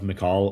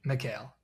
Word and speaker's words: Mikal: with the Knicks and they kept one of McCall or Mikal, what is it, McCall? You always correct me on my pronunciation. Mikal.